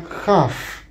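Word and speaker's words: כ: Sin el punto se refiere a una jaf. Fíjate la pronunciación. Jaf es como una jet, pero la jet es aspirada y es gutural. La jaf sí es una jota que no es tan, no es gutural, no viene de la garganta.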